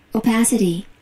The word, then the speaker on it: opacity: 알아듣긴 알아들는데 대충 발음이 정식 발음이 어떻게 돼 있냐면 opacity opacity opacity 두 번째 실버되습니다.